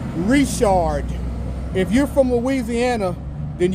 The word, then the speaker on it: Richard: yeah I want more n n n Louisiana pronunciation lesson this does not say Richard if you think that this says Richard you're not from Louisiana this is pronounced reard if you're from Louisiana then you know that